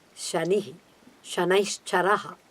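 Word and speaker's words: शनि: do not become victims for that so please pronounce Shani Shanna's Chara ha like that give him more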